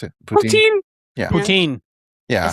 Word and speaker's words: poutine: Is that how you pronounce it? Poutine. Yeah. Poutine.